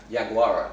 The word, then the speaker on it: Yaguara: Yaguara.